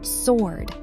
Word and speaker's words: sword: Make sure you do not pronounce the W here. It is simply sword, like the knight held a heavy sword.